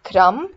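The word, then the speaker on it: crumb: honest another word is crum because it ends with mb the b is silent it's scrum similarly you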